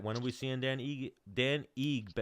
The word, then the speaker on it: Ige: So Kevin Aguilar, if Kevin Aguilar doesn't accept that fight, when are we seeing Dan Ige? How do you pronounce it again? Give me one more time. Ige.